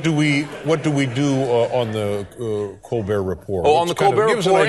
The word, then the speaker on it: Colbert: And how are things on the Colbert Report? Are we still calling it the Colbert Report? Or yeah, we have not found the pronunciation of that T yet.